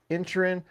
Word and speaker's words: Inisherin: I got a chance to catch The Witcher Blood Origin, The Fablemans, Banshees of Inisherin, even though it's spelled Inisherin, they say in the movie Inisherin, plus Knives Out Glass Onion.